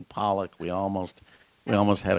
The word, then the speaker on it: Pollock: so when he said Sydney poock instead of Sydney Pollock we almost we almost